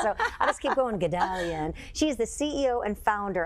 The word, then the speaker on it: Guldalian: So I'll just keep going, Guldalian.